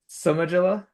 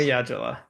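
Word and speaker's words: Somayajula: And I'm here with Somajala. So Somayajima, close. Somayajala. Gosh darn it. So close. All right, Somayajala.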